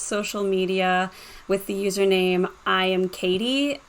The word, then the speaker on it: IAMKAITY: media with the username I am Katie, but it's spelled really weird. It's IAMKAITY.